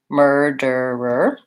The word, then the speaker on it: murderer: Mer, and then der, and then with first syllable stress, and these two are shorter. So basically you have to be able to make that sound almost 3 times in a row with the D.